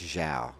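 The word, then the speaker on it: João: By the way, you probably notic I'm calling him Xiao now because I had a Portuguese friend of mine message me just now and pronounce his name for me. He's saying it wrong. He says it's Xiao.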